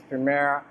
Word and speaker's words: Premiere: to throw in adult Premiere Pro I don't know if I'm pronouncing it well but most people say it's Primera most of it is Premiere but whatever you call it it's Premiere Pro it's a video editing